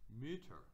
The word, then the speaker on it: Mütter: Now when we make that plural, it's Mütter. Mütter. Mütter. Do you notice how that U sound is shortened? Ü. U. Ü. Ü. umlauts kind of change the way that it is.